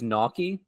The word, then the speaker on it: gnocchi: I think it's gnocchi is the actual pronunciation of that pasta.